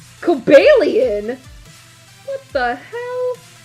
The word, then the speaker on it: Cobalion: Just know the official pronunciation is Cobellian, but I think it's Coalian.